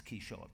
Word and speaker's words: Quichotte: French pronunciation, but it's basically a key and a shot, you put them together.